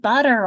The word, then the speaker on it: butter: You say you put butter on your toast. It becomes a D sound. Butter.